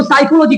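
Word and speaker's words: psychology: जैसे मैं लिखता हूं PSY साइकोलॉजी ऐसे लिखाता है, तो साइकोलॉजी इसको मैं पी साइकोलॉजी लिखाता है, लेकिन ये पी गया कहां पे? इसको साइकोलॉजी क्यों बोला जाता है? यानी ये जो पी होता है वो साइलेंट हो गया।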